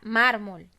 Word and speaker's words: mármol: en sílabas mar molt cuales sílaba tiene la mayor fuerza de voz mármol diego mármol no digo mármol ok la sílaba tónica o la que tiene más fuerza 2 es la sílaba mar entonces la palabra es